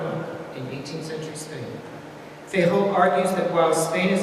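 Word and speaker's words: Feijóo: Another 18th century Spanish writer worth mentioning today is the monk Benito Jerónimo Feijó, not Feijó, Feijó, as some might mispronounce his name, who in 1739 published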